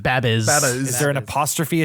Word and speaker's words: Babyz: That's actually Where's the- pronounced Babbies.